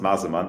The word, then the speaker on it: Masemann: Yeah, well pronounced, Masemann. It's a German name, as you can hear from my accent.